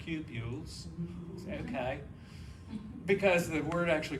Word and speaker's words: cupules: We call these cupules, or sometimes it's pronounced cupules, but a British friend of mine corrected me. He says, no, they're cupules.